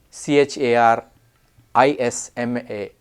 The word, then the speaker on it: charisma: a m p a g NE e champagne c h a r i s m a Charisma c h a r iot t Chariot